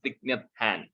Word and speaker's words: Thich Nhat Hanh: Plum Village is a spiritual order started by a Vietnamese monk called Thich Nhat Hanh or Thich Nhat Hanh. That's how it is pronounced.